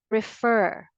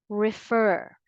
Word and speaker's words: refer: of these two words refer refer prefer prefer whether you use the American English pronunciation or the British English you give a greater force or you put the stress always on the second syllable again say it with